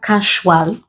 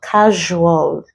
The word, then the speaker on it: casual: pleasure the essay treasure words like usual casual not casual but casual so you pronounce it we also have